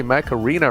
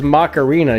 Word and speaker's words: Mech Arena: but I do play Mech Arena right now, so... Hey! It's like you said the cartoon version of War Robots. He said it right this time. I'm disappointed. Mech Arena! Usually he says Macarena.